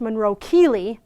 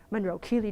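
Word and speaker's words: Monro-Kellie: You have just affected Monroe-Kelly. Incidentally pronounced Monroe-Keeley, but nobody ever said, I'd never say that.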